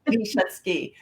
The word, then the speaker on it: Leigh Schutzky: And I asked her to let me know how to say her name. Leigh Schutzky. That's right, right?